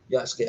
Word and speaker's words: Yasuke: It's always his pronunciation. I'm always getting wrong. Yasuke.